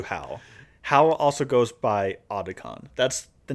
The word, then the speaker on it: Otacon: So we're going to call him Otacon from here on out. Apparently, like... Is it pronounced that or is it like Otakon? Well, I've heard some people say Otakon, but like they say Otacon in the...